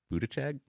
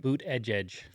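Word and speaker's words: Buttigieg: tweet from uh peter budeck is that did i say his name right boot edge edge buddha judge all right he's being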